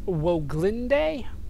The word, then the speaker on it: Woglinde: get the name of the ship uh that's pronounced woah glinde that's how they say it so i'm not